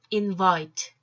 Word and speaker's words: invite: invite, invite. 뜻은? 초대하다. 자, 어때요, 여러분? 오늘 복합음 하나 등장했죠? I와 E 사이에 어떤 알파벳이 올 때는 E는 발음하지 않고 I는 그대로 I로 발음한다.